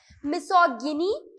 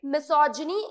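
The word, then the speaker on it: misogyny: मिसोगिनी इस तरीके से प्रोनाउंस नहीं करना है. ठीक है, किस तरीके से प्रोनाउंस करेंगे भाई? मिसोजिनी इस तरीके से प्रोनाउंस करना है.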